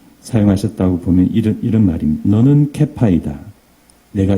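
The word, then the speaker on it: כֵּיפָא: 어떤 단어냐면은 게바입니다. 근데 원래 발음은 케파입니다. 예. 그래서 이 문장을 아람어로 예수님께서 사용하셨다고 보면 이런 말입니다. 너는 케파이다.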